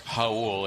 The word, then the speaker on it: Raul: Again, it's Raul. It's spelled like the Spanish.